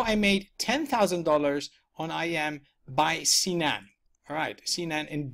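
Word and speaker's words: EyeEm: okay it spelled a little bit really it's I am that's how it is pronounced alright so you go here it tastes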